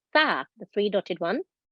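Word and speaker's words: ث: So we're learning that this is a letter tha, the 3-dotted one. Tha, as in thin.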